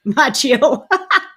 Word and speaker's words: Macchio: Macchio.